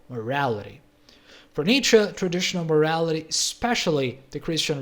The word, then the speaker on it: Nietzsche: In the 19th century, a Musterchoid German named Friedrich Nietzsche, that's right, that's how you pronounce his name, was very critical of many groups in society, like psychologists, scientists, religious people, and so on.